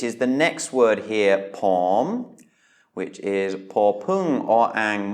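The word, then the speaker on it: ผม: So again, we have a high-class consonant and then a sonorant final. So that means it's a live syllable, which means that it is a rising tone. Pom, pom.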